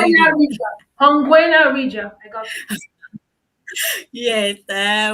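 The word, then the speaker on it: Ohangwena: We are in Hangwena region. I know you won't you won't pronounce that. Try it. We are in Hangwena Hongwena region. region. Hongwena region.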